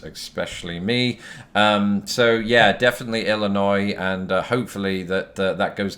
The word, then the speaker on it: Illinois: pronouncing it that way I have heard people even in this state tho pronounce it Illinois's which is interesting because it creates an extra noise instead of an extra